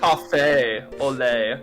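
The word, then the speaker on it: café au lait: It's just French. That's all. You don't pronounce the T.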